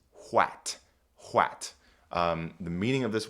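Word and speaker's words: hwæt: There's the A sound, and they use that by combining an A and an E right here. This is called an ash. This is the ash letter, and it makes the a sound. So, this word is wat.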